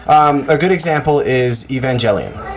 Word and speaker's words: Evangelion: it in English it's Neon Genesis evangelon okay Evangelion whatever yeah yeah he really